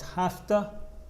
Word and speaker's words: have to: go ultra best la pronunciation is hafta and hasta they have to go